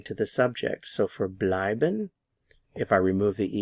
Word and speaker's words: bleiben: stay or to remain the stress is on the EI here or the diff thong blin blin blin we've been